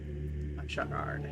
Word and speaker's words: Bashagard: Bashagard.